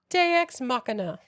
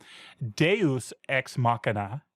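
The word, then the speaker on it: Deus ex machina: The next chapter is called Deex Machina. Did I say it right? My Latin is not good. Yes. So, I love this. And let me digress slightly. Deus Xmachina is a classic Latin phrase usually in the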